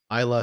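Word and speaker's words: Islay: This is it says Isla single malt Scotch whiskey, and yes, it's pronounced without the Y.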